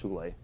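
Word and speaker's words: hyle: And they call the Platonic world the pleroma, which is this non-physical Platonic realm, and then the hule, it's spelled Heil, but it's pronounced hule.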